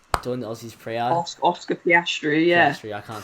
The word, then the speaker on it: Piastri: Oscar Petraci, the Aussie, doing the Aussies pre-art. Oscar Piastri, yeah.